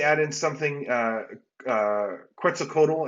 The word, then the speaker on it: Quetzalcoatl: in something uh uh quetzalcoatl i think is actually the pronunciation or something uh close there too um and then the